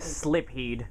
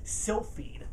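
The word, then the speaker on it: Silpheed: game called still feed I pronounce it wrong for the first year I had it I think slip heed I call it like slip heat I think right yeah yeah definitely still feed so I was like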